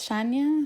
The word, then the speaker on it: Yania: Hola a todos, mi nombre es Shania. Se escribe Yania, pero se dice Shania.